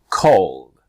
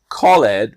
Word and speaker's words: called: stopped asked missed escaped the next one i call is the apostrophe d right the apostrophe is a symbol before the d so this is when the e just disappears like the letter e so called not called but called arrived changed